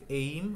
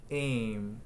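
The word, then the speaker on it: aim: তারপরে আমরা বলি না এইম ইন লাইফ, এইম আসলে এইম না, এম। ওকে, এম, এম একদম এইমও না, এমও না, এম, স্যাড।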